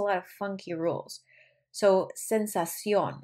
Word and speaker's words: sensación: Sensación, this means an emphasis on the O, de ardor al orinar.